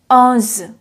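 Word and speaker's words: onze: pronounce 11 in french 11 in french is pronounced as oz oz aunz 12 is spelled as deuce deuce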